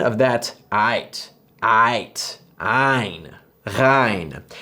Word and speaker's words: غ: Ghain. This is the exact same as the French R sound found in words like rêve, rapide, and radio.